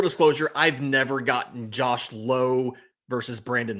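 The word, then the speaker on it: Lowe: So, when I do the recap and I put it in there, I put low in parenthesis for Josh Low and then I put now for Brandon Laauo because it rhymes with now.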